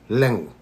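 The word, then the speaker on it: leqa: The Q in Fijian pronounced as lenga. Ga. So lenga is said lenga.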